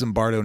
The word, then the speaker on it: Zimbardo: But it's Zimbardo, not Zimmerman.